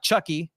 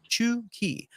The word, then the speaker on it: Chucky: pronunciation uh right there it's not Chucky it's uh chi chuki um some more information